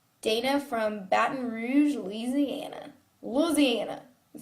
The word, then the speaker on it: Louisiana: have a career dana from baton rouge louisiana louisiana is how you say it what's your least